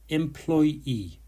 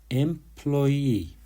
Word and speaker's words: employee: Employee. Employee. The stress is on the second syllable, ploy.